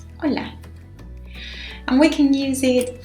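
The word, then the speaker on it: Hola: letter in the word it is not pronounced it's completely mute so Ola Ola and we can use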